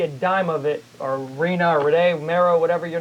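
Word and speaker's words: Rena: Her name is, how do you how do you pronounce it? Reena or Renee Maro? Reena.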